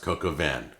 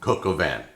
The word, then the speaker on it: coq au vin: That's how it's pronounced, coq au vin. It's like a cocoa van. It's like a van with Coca-Cola in it. Coq au vin.